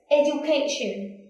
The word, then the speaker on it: education: the same word, but it has a different pronunciation. For example, education. All of the red and underlined is thread. Education.